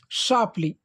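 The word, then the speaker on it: sharply: गया तो हो गया सापली इसमें र साइलेंट लगेगा सापली ठीक है सापली मतलब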